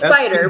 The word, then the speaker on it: SPDR: Oh sh I keep say I pronounce I just say spider. I don't even think about the acronym. It's spider but it's spelled a little different.